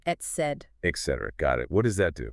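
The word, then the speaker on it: etcd: It's pronounced et cetera.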